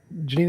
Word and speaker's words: Jeanine: That's how you pronounce it. Janine, it's nice to have you on.